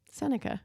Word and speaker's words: Seneca: Seneca.